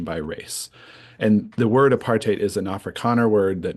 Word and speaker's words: apartheid: in the US and my South African friends said it rhymes with hate apartate apartate but if you want to call it apartate that's fine um so